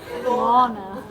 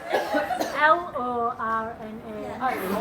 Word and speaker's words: Lorna: Lana. Lana. Lana. Did I not just say that? Spell it. L O R N A.